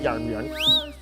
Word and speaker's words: Jarnbjorn: That's how you say it, Jarnbjorn.